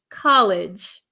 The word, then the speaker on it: college: an institution for schooling that is colge colge College college colleague College okay very very good all